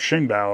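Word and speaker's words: Xingbao: my Chinese is terrible I had to look up how to pronounce Shing bow okay it looks like Zing B if you're an American so anyway so that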